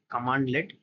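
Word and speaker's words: cmdlet: Instead, when a CMD-led pronounced command-led is run in PowerShell, it returns objects that retain their properties and methods.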